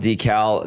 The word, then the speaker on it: decal: It is pronounced decal. The only people that pronounce it decal, which is incorrect, Americans.